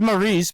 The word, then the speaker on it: Maurice: You've been telling me I've been pronouncing your name wrong all this time and you didn't correct me. Oh, he's he's Maurice, but I I called him Mouse.